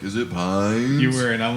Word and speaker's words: Piines: yeah, it's, Yeah, supposed, we're gonna it's, say Say Pines.